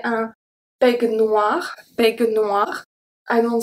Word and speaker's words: peignoir: EI make the sound E, exactly the same as AI.